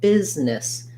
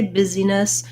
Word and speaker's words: business: Also with business, notice how it looks like busyness, but we really actually just say business. So there's no sound for that letter I. We don't say busyness, but rather just business, two syllables.